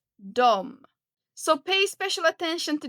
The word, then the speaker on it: de: Jag, du, han, hon, den, det, vi. ni de you can see here that they are spelled d e d however you usually pronounce it like dom so pay special attention